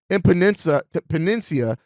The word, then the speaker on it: Epenesa: AJ Epenesa, I believe is how you pronounce it, from the Buffalo Bills, is a defensive end, 25 years old, 6'6", 260 pounds.